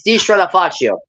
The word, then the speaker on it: Di Stratafaccio: So it's Di Stratafaccio. Yeah. Di Stratafaccio. Faccio, like Faccio, like think of like focaccio, like yeah, Faccio, yeah. Stratafaccio.